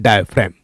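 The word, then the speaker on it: diaphragm: हैं डाफेन पाया गया डाय फ्रेगमैन जी साइलेंट है डाफेन कहेंगे क्या कहेंगे डाफेन ठीक है डाफेन प्रेजेंट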